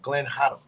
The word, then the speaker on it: Gaddum: Gaddum, but over there it's pronounced Haddam. Glenn Haddam.